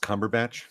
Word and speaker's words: Cumberbatch: her snatch sequel yeah it's pronounced Cumberbatch Cumberbatch comic watch Doctor Strange we